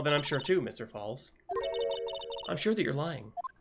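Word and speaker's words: Fawles: It's not Follis, it's Falls. Terry Falls. He's taking the fall. I've been saying it wrong this whole goddamn time. I've been saying it as Fallis, not Falls.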